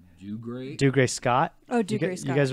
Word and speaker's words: Dougray Scott: Dougray Scott.